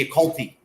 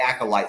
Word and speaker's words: Acolyte: I could not pronounce the word correctly for like the first couple months that the show came out. I wanted to call it the Acolyte every fucking time. And finally, it got through to me that it's actually called the Acolyte. So thank God that I can now pronounce it.